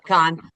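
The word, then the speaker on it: Cannes: did with Harrison Ford, they screened it at Khan, which am I pronouncing that right? I never know. That's it. Khan, they screened it there and they are notoriously the snoodiest film festival ever.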